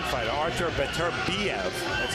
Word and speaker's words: Beterbiev: A fighter to watch out for is the #7 fighter, Artur Beterbiev.